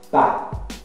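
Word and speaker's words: pas: Pa. Pa significa não. Em alguns casos, você não pronuncia o S, tá?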